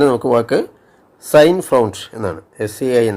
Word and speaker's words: Sein: SEIN സൈൻ. അത് EI എന്നുള്ളത് പലപ്പോഴും IA എന്നല്ല I എന്നാണ് ഉച്ചാരണം വരുന്നത്.